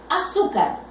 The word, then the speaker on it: azúcar: Yo tengo la palabra azúcar. Azúcar. Separo en sílabas. Azúcar. Observo aquí. Última, penúltima. Esta penúltima sílaba es la que será acentuada. Pero ¿quién define si acentúo o no?